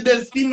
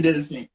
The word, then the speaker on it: Delphin: Est-ce que c'est Delphine ou bien Delphin? Delphin.